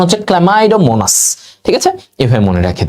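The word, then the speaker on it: Chlamydomonas: আর যারা সচল, চল, সচল, চল, চল, এই যে সিএইচএল, ক্ল্যামাইডো, এটার উচ্চারণ হচ্ছে ক্ল্যামাইডোমোনাস।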